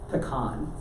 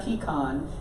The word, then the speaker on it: pecan: of them real quick there's one that has four different pronunciations I'll just give you one of them pecan or different ways say that you got the kind you got pecan you have pecan and you got a can and I have a